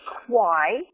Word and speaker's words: Quy: It's LaRae Quy, and it's spelled L-A-R-A-E, and the last name is Q-U-Y.